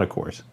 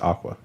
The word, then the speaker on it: Aqours: It's not Aqours. It's what is it? Pronounced Aqua. Aqua. Okay. Yeah, it comes from the words aqua and ours.